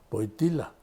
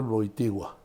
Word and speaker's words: Wojtyła: Entonces, ya lo viste y en el camino le pregunta, oiga, ¿cómo se pronuncia su apellido? Porque Boitila, ¿no? Y entonces le dice Carol Boitigua.